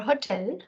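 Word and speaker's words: hôtel: a coast this is Hotel a word for hotel the H is silent Hotel H is a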